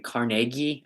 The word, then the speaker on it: Carnegie: morrison says andrew carnegie i think it's technically carnegie i think is the correct pronunciation says andrew carnegie used